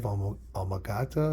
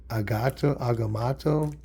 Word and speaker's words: Agamotto: First appearance of the Eye of Amagata is how you say it? Agamotto.